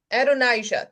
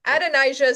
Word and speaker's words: Adonijah: At the same time that's happening, now we have I should have thought about how to pronounce this. Adonijah, there we go. Adonijah, son of Haggith, who is the next in line to the throne.